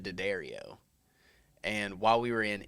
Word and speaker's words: Diaddario: So my family pronounces it Diaddario.